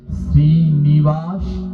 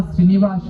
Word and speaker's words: শ্রীনিবাস: আর মহাপ্রভু যে রূপে দ্বিতীয়বার অবতীর্ণ হলেন তিনি হলেন শ্রীনিবাস আচার্য। শ্রীবাস আর শ্রীনিবাস দুজন কিন্তু আলাদা। হ্যাঁ, ওই যে জয় শ্রীকৃষ্ণ চৈতন্য, ওখানে কি হবে? শ্রীবাস হবে না শ্রীনিবাস হবে?